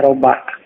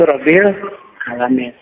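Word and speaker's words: رَبِّ الْعَالَمِينَ: jalan keluar karena itu di sini bacanya tidak boleh dibaca robah salah dibaca rebus salah ini karena kalau diajar ilmu Nahwu sering diartikan pembuat pengurus penanggung jawab boleh rabbil alamin inilah jadi Alhamdulillah Mengapa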